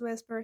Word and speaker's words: VSEPR: but you had no idea so what does whisper Theory say whisper Theory we say it this